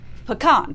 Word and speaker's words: pecan: ways to say it pecan and wait pecan pecan yes so there so you you have to change the emphasis on the syllable but there's no correct way and my grandfather used